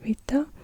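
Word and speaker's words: βήτα: But this is it looks like a B, it's Vita, but it's pronounced like a W or like a V actually in English, like this book is in German.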